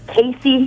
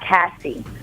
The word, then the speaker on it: Casey: that page on facebook my Instagram account is Casey not Cassie so quick backstory the way my name is spelled a lot of people call me Cassie which is fine I